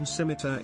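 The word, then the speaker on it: Scimitar: The C in Simita is silent. It's a K, bro.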